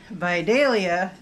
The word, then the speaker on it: Vidalia: And I now know that Vidalia seems to be the proper pronunciation.